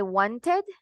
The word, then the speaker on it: wanted: The end for this verb is t. Es una T.